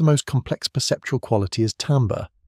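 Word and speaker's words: timbre: Perhaps the most complex perceptual quality is tambber, pronounced tambber, timber is what allows us to distinguish between two different instruments playing the same note at the same loudness.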